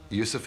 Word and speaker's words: Yusuf: Later, my Arabic teacher who was teaching me how to pronounce Arabic, I told him that that was my choice. He said, can't you use the Arabic pronunciation? I said, yeah, why not? So, Yusuf Islam.